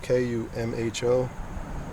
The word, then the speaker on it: Kumho: it but um izakumo I think he said pronounced akumo k-u-m-h-o Kumho to welcome home and Continental I believe